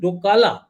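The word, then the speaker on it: Doka La: Chinese I think actually the name which we give is doala it is not even dolam if you if you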